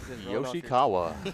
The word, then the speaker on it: Yoshikawa: It was just like, yeah, Yoshikawa. Yeah, it's a pretty unique last name. Go ahead and say Yoshi, and then Ishikawa right there.